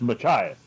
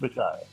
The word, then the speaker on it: Machias: I I'm going to butcher the name of your town so I'll let you say. Uh, it's Machias. East, right? East Machias. That's right. East Machias.